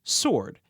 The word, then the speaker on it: sword: I can only think of 2 other words in the entire English language that have a silent standalone W. They are answer, ANSWER, and sword, SWORD.